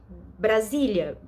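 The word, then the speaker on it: Brasília: it's it's kind of it's very easy you know Brazil Brazilia Brazilia you know it's not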